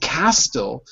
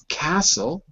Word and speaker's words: castle: is silent in wrestler the tea is always silent in words that follow the pattern of Castle so we don't think castell we say castle any word that follows